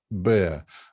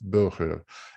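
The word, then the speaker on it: Boehrer: And I found out that it's a Dutch surname and that it should be pronounced Burger.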